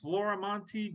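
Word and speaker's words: Florimonte: I've forgotten uh go ahead uh floramonte Jr I always spell it because even though it's on there but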